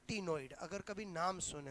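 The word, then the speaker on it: ctenoid: एक होते हैं बोलो टिनॉइड। सी साइलेंट होता है।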